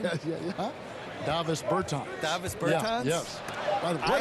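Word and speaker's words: Dāvis Bertāns: Oh, and that, at this point in my life, it's Davis Bertans. Is that how you say his name? Yeah. Davis Bertans.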